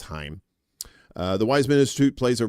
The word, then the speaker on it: Chaim: I think it's Chaim. I'm not saying shame.